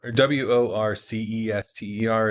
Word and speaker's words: Worcester: you from they go like oh I'm from Worcester County now I'm all like oh I'm from Anne Arundel County and for some reason once it is spelled WR wor c est ER it's it's yeah yeah but we still like